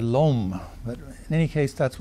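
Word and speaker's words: l'homme: apostrophe h o m m I call it Lum it seems like Lum to me but people who perhaps no French better than I do say I should have said LOM but in any case that's what it means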